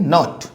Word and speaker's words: naught: और ये जो जीरो यूज कर रहे हैं ना, इसके लिए हम लोग क्या प्रोनाउंसिएशन करेंगे, नॉट।